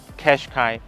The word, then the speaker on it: Qashqai: How to pronounce the name I will say "Cash-Kai" again. Both pronunciations are correct.